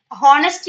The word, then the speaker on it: honesty: Honesty എന്ന് പറയില്ല നമ്മള്. It's honesty. H is silent. Okay. It's honesty, not honesty.